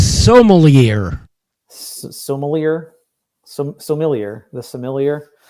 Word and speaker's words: sommelier: I'd appreciate it if you'd pronounce it correctly. It's sommelier.